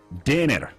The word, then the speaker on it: Deigner: Yeah, you got to do it with the German accent. Deiner, Philipp Deiner.